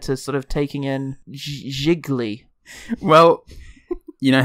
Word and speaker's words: Gigli: Gigli, it rhymes with really.